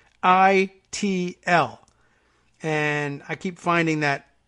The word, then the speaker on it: Xochitl: So if you're familiar with those, you might have learned to pronounce it from there. It's Xochitl.